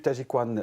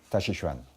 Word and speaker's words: Taijiquan: On parle de la même chose, c'est simplement le chinois qui est employé, moderne ou ancien, et la prononciation, l'écriture est différente. Voilà, on fait son choix. Vous préférez quoi personnellement? Tachichuan.